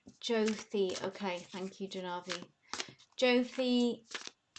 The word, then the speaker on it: Jyoti: Janavi says Jyoti is pronounced more like Jothi.